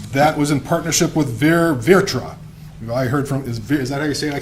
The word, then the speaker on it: VirTra: And that was in partnership with Virtra. I heard from, is that how you say it? I can't say that. I've tried to say it. Virtra?